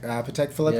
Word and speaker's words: Patek Philippe: Patek Philippe, is that how you say it?